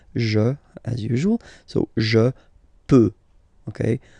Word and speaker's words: peux: So je peux, okay? Final X not pronounced here, okay? So you've got the X, but you don't pronounce it. So basically you get the sound peut, je peux, okay?